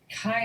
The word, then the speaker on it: chi: Theta is pronounced as in the, phi is pronounced, chi is pronounced k, or ka, and psi is pronounced as in drops.